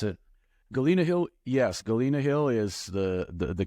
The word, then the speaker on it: Galena Hill: Is that how you pronounce it? Galena Hill, yes.